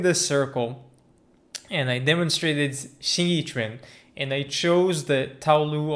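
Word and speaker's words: 形意拳: I'm going to demonstrate Xing Yi Chuan. Xing Yi Chuan, or Xing Yi Chuan, as people often pronounce it, is one of the other martial arts which I have been practicing for many years.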